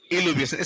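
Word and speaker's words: illuviation: इलुविएशन। Spelling याद रखना।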